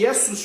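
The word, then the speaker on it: Ἰησοῦς: longo transliterado como é foi transliterado para para o grego com a letra Eta n é a letra ET tem o som de e por isso é que é i o xin tem tem um som escreve-se C ou melhor S Não havia não havia nenhum som nenhuma letra que reproduzisse o som xim então teram o Sigma interessante que o Novo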